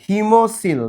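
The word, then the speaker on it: hemocoel: হিমো COEL, হিমোসিল। তাহলে বলো এর উচ্চারণ কি হবে?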